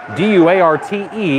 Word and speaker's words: Duarte: That is Kevin Duarte, D-U-A-R-T-E. It is pronounced Duarte.